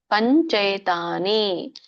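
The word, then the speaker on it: पञ्चैतानि: ನೋಡ್ರಿ ಪಂಚೈತಾನಿ ಪಂಚೈತಾನಿ ಮಹಾಬಾಹೋ ಪಂಚೈತಾನಿ ಬಿಡಿಸಿದಾಗ ಪಂಚ ಏತಾನಿ ಅಂತ ಆಗುತ್ತೆ ಪಂಚ ಏತಾನಿ ಪಂಚೈತಾನಿ ಮಹಾಬಾಹೋ ಕಾರಣಾನಿ ವಿಬೋಧಮೇ ಸಾಂಖ್ಯೆ ಕೃತಾಂತೆ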